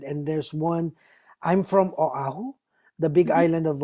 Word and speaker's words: Oahu: I don't want to Yeah, pronounce it wrongly. And then I Oahu. know the No, it's okay. Oahu.